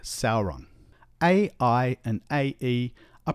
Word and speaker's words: Sauron: the sound and so EI is always pronounced a Au is a ow and so we get words like Sauron a i and AE